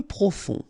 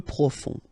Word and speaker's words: profond: Peu profond. Final D not pronounced. Peu profond.